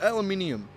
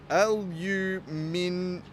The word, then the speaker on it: aluminium: So many people don't realize that it's literally the same thing, but there's a different word. Like not even a straight up pronunciation thing. It's like aluminum. I would have another I right here.